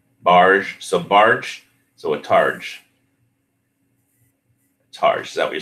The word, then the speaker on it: targe: Okay, so it's a targe. Targe. All right, now that we have the pronunciation settled, I should go see if I can find any more badass weapons on that site.